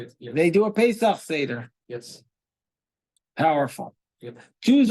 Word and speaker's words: Pesach: But Pesach, right? It's pronounced Pesach, right?